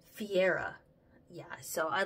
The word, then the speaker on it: Fiera: like that specific brand of concealer this faia Faria I should pronounce it right Fiera yeah so I like it cuz it Doesn't